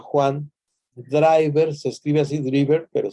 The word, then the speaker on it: Driver: Y en esta comunidad de perdón, el autor, que se llama Juan Driver, se escribe así Driver, pero se pronuncia como el driver, como los choferes, chofer, quien maneja, Juan Driver, nos explica qué es lo que hay que hacer.